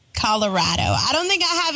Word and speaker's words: Colorado: I mean it's it's Colorado I mean it's they say it's because Colorado is rad so it's Colorado I don't think I